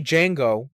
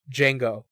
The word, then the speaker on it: Django: django and jango's like the d is silent yeah that's that guy